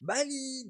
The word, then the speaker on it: Bali: B-A-2-L-Y. Bali, 2 syllabes, 5 lettres.